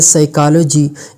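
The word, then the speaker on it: psychology: लेकिन बोले नहीं जाते जैसे कि पहले वर्ड में साइकोलॉजी यह पी जो है साइलेंट है लिखा गया है लेकिन इसका जो सावंड है वह साइलेंट है अफन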